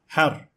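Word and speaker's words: حَرّ: One can either say har, hir, or hur. The idea here is that sometimes harakat matters, as in this example, har, which means hot, but on the other hand, hur means free.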